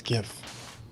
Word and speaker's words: GIF: I don't care what the creator says. It's GIF, right? It's like I don't call it here here's your birthday gif, you know?